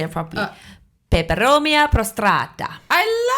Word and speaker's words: Peperomia prostrata: Peperomia prostrata.